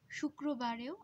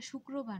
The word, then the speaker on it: শুক্রবার: শুক্রবারেও আমরা তালব্য স উচ্চারণ করছি শুক্রবার, আসলে উচ্চারণটা শুক্রবার না, শুক্রবার। কিন্তু কেন আমরা শুক্র না বলে রো বলি, আসলে ক্রো বলার চেয়ে রো বলার ক্ষেত্রে আমাদের যে জিহ্বা আছে তার কিছুটা সুবিধা হয়, এ কারণে উচ্চারণ যেহেতু আমরা সুবিধা পাই, এজন্য আমরা উচ্চারণ করার সময় একটা রোয়ের মতো উচ্চারণ করি, কিন্তু আসলে উচ্চারণটা হবে শুক্র, তারপর হচ্ছে বার।